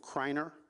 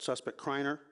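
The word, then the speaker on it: Criner: As a result of this, we've identified a suspect named Mikhail is the way he pronounces it, spelled M as in Mary, E-E-C-H-A-I-E-L. Last name of Kreiner, C-R-I-N-E-R.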